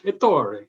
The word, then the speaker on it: Ettore: And we're going to start with Alderman Ettore, excuse me. You can say it like Italian. It's good. Ettore.